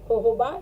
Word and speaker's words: jojoba: नाम aloe जोजोबा shampoo है, लेकिन उसको हम प्रोनाउंस करते हैं yellow होहोबा shampoo and yellow होहोबा conditioner.